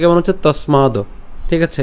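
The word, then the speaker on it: তস্মাৎ: এর উচ্চারণটা কেমন হচ্ছে তসমাদ। ঠিক আছে? এখানে দন্তসটাকে আমরা ত এর সাথে উচ্চারণ করলাম।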